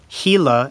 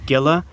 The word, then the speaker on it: Gila: viewers kindly pointed out to us that it's pronounced gila and not gila national force so excuse us throughout this video as we were saying gila but nonetheless enjoy the video and subscribe for